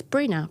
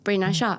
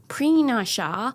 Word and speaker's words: Brina: hi my name is Brina Brina and I'll say it like that not Pinasha not the accent way not the western accent but Brina is my name I was born in Kenya brought up in the UK.